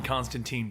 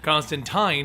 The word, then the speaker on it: Constantine: But in America, it was mispronounced to be Constantine early on, and the pronunciation then